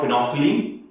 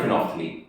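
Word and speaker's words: phenolphthalein: And what about फिनोफ्थलीन इसकी spelling देख phenol फथालीन है बट बोला जाएगा फिनोफ्थलीन।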